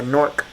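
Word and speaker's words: Knork: I know it's K-N-O-R-K, but it's a Nork Cutlery Set.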